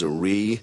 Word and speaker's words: Zrii: The name of our company is Zrii. That's spelled Z-R-I-I.